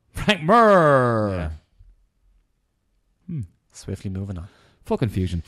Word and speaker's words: Mir: Rory MacDonald fightin Frank Mir the does that look like leave it's pronounced mer mer swiftly move enough for